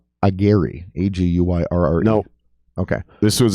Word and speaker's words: Aguirre: What's his last name? Agiri. It's spelled Aguirre, Aguyurre.